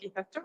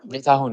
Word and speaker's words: Getahun: First of all, my name is not Gitacho. Getahun, I know.